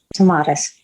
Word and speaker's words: Tomatis: Is that how you pronounce it? The Tomatis? You did great, Tomatis.